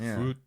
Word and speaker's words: Frute: Of the band Frute, and that's how you say it, right? It's just exactly as it looks, right?